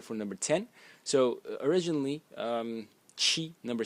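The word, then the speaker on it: 七: The next character is character that represents number 7, pronounced chi, chi in the first tone, and again it's a phonetic loan.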